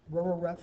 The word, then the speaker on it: RREF: reduced row echelon form Rho ref is how I'll pronounce it in class so I want you